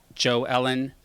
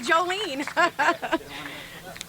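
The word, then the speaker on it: Jo Ellen: supporter of our parks joe ellen on i'm just impressed you said my name did i say it right you do okay most people call me jolene hi i'm super i'm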